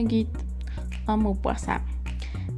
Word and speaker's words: Guy de Maupassant: Hoy vamos a hablar de Guy de Maupassant y en francés se pronuncia Guy de Maupassant.